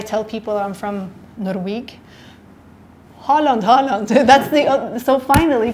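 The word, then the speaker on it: Haaland: Egypt and I tell people I'm from norg Holland Holland that's the so finally people in Egypt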